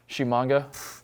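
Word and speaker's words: Tshimanga: Shimanga. Yeah, I'm going to say the T is silent. Let's just go with that. Whenever you see a T up top, it's probably silent. Shimanga from Nebraska, the big kid.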